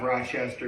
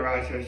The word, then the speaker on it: Rochester: Actually, fun fact, outside of Rochester, we say Rochester. Inside of Rochester, say Rochester. That's how they say it.